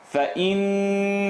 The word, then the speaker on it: فَإِنَّ: فَإِنَّ الْجَنَّةَ هِيَ الْمَأْوَى فَإِنَّ الْفَإِ نون شَدَّة فَإِنَّ الْجَنَّةَ double shadda here and then shadda on top of the noon as well. Two noons.